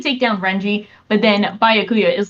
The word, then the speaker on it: Byakuya: BYA, it's pronounced Bia.